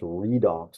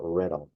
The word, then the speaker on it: redox: the way it's pronounced redox not redox but the read part of it comes from reduction then the obviously from